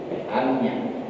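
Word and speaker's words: Ajna: That's Anya. In Bengali, Bangla pronunciation. attention because I read Bengali. So, Agnya.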